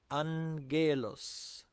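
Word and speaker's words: ⲁⲅⲅⲉⲗⲟⲥ: Here repeated gamma is pronounced as n followed by a g. So, we say angelos angelos.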